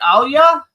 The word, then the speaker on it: Alia: me how do I is it Alia yes you did it perfectly you're one of the